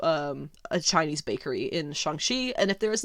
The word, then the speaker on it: Shang-Chi: is katie and similia is shangchi shanxi i i can't i keep correcting myself on that because i want to be saying it right i don't want to spread around the americanized version of it because if they're going to be saying it right in the movie i just got to jump on board with that now get ahead of it